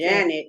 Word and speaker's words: Jeanette: Janet is how they say it, but they say that Jeanette is a spelling.